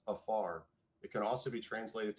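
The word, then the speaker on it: עפר: So, in Hebrew, the word dust is pronounced afar.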